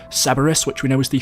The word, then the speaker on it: Cerberus: I'm not 100% sure since some of the blueprints are blurred out, but the name for this weapon is pronounced Cerberus, which we know is the 3-headed dog that we also saw referenced in Mob of the Dead.